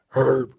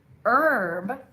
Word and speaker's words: herb: If you say herb, you're sounding like an American. But if you say herb, you sound like a British English speaker.